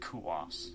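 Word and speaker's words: Coös: It's pronounced Kuos. Yeah. Kuos County.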